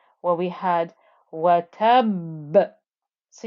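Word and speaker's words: وَتَبَّ: 1, where we had watab. So you can hear that pressing noise of the ba in this ba with the shadda before you get the bounce back of the qalqala.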